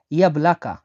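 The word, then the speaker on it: яблоко: আপেলকে রাশিয়ানে বলা হয় ইয়াবলাকা। ইয়াবলাকা মানে আপেল। দেখুন আমি এখানে রাশিয়ানটা ভেঙে দিচ্ছি। এটা হলো ওয়াই, এটা বলা হয় ইয়া, এটা বলা হয় বি এল এ কে এ, ইয়াবলাকা।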